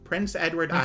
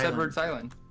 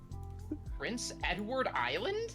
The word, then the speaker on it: Prince Edward Island: Prince Edward Island. Prince Edward's Island. Prince Edward Island. Mhm. Edwards. Yeah. I don't pronounce the part.